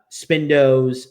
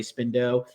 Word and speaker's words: Spindo: two monsters and uh spindo that that's the appropriate pronunciation for the leader of the hashian by the way spindo uh his right-hand man